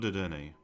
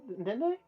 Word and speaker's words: Dedenne: is not Dedenne. Oh, your name is not Dende?